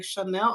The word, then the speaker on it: Shanelle: I was like, oh, my name is like a spinoff of the brand Chanel. Like, it's like, oh, this is how you pronounce it.